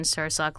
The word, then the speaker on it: Sursok: Yes, Tammin like salmon, Sursok like sir and the sock on your foot.